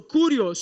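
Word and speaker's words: κύριος: ou para uma divindade se a expressão kirios ou curios como outros preferem pronunciar só era usada para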